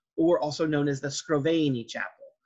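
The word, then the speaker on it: Scrovegni: the arena chapel or also known as the scroveny chapel sproveni is spelled up here s-c-r-o-v-e-g-n-i it's called arena because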